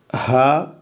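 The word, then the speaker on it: ه: ഇങ്ങനെ ഹ എന്നാണ് ഈ അക്ഷരത്തിൻ്റെ ഉച്ചാരണം, ഹ, എച്ച് എ എ, ഹ, ഹ.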